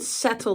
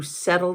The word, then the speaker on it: settle: a quieter life to settle down s-e-t-t-l-e though we pronounce it like it's D's we say settle but it's settle there's two T's so you'll hear settle or settle well there you have it